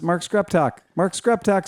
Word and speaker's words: Screptock: Yes, my new favorite name of the week is Mark Skreptok. Screp talk. Read it. It's Skreptok.